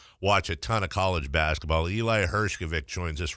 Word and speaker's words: Hershkovich: quote, because I said, is it Hershkovich? I even, phonetically spelled it out. It was, here's my response from him, Vic, V-I-C-K, not Vitch, V-I-T-C-H.